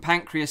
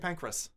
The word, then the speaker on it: Pancras: Kings Cross or some pancreas station like from lung and recreate that that would be no joke oh boy pancreas some pink grease has it pronounced Zim st. Pancras st. pancreas there's no e sees bank criss cross